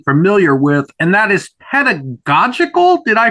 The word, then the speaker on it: pedagogical: might not be familiar with, and that is pedagogical. Did I pronounce that correctly? Yes, you did. Yes, pedagogical.